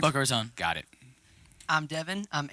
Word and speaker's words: Boca Raton: Boca Raton.